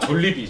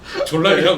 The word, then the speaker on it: 졸리비: 아, 졸리비 졸라비. 졸리비. 졸리비. 그 발음 잘하셔야 돼요. 졸라비라 그러면은. 그니까 졸리비. 졸리비.